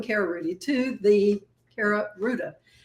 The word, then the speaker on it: Rouda: Welcome Cara Rudy to the Cara Ruda. It rhymes with Gouda y'all.